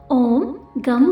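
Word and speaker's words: ओं गं: भी तुम ही हो गण के प्रथम शब्दांश ग का उच्चारण करने के बाद वर्णों के आदि अर्थात अ उच्चारण करें उसके बाद अनुस्वार अर्थात म का उच्चारण करें इसके बाद इसे अर्ध चंद्र से सुशोभित करें इस प्रकार गम ओमकार से अवरुद्ध होने पर तुम्हारे बीज मंत्र का स्वरूप ओम गम बनता है ग कार प्रथम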